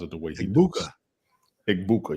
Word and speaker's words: Egbuka: Egbuka, yes. You have to enunciate the vowels.